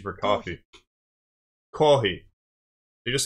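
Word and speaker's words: コーヒー: Kohi. You just say coffee, but kohei, just leave the F's out. Kohei.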